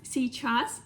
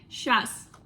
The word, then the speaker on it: сейчас: Сейчас. Russians often can pronounce it like щас.